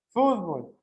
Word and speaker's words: fútbol: Fútbol. ¿Por qué está acentuado fútbol? Fútbol. Porque lembran la regra. Ela sería una grave, mas ela grave é acentuada ou não acentuada?